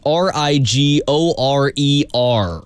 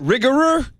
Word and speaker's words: Rigorer: brand for you it's a little hard to pronounce r i g o r e r r i g r e r rigor that